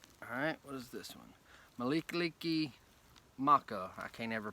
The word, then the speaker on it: Mele Kalikimaka: Malikaliki Maka. I can't ever pronounce that right.